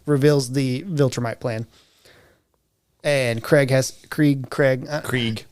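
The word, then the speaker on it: Kregg: And Krieg. It's spelled Craig, though. Like, if you have subtitles on, it is absolutely spelled Craig. It's more like Craig.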